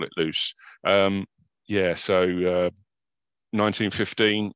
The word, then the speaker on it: Loos: the battle off and i'm not going to correct david on his pronunciation of it i'm just gonna call it loose as well someone else uh better qualified can say it was loss but we'll just call